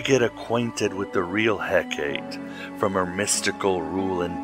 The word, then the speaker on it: Hekate: And yes, I'm sure I'm mispronouncing Hecate. It should be Hecate or Hekate.